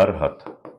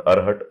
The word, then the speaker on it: अरहत: अरहत, नॉट अरहट, अरहत, ठीक। मैं देख रहा हूँ कि बहुत सारे टीचर्स, है ना, अरहट अरहट बोलने लगे, उनको उनको पता ही नहीं है इनकी प्रोनाउंसिएशन।